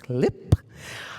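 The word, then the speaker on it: CLPP: It has given so much to me and to the Civil Liberties and Public Policy Program, which our consultants told us we need to tell you is pronounced CLIP.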